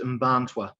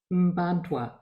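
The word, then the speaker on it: Mparntwe: It's pronounced Mbantwa. Mbantwa.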